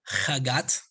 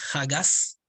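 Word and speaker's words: חגת: Los primeros tres se conforman por el acrónimo de Hagat, o también se pronuncia Hagas, que son los atributos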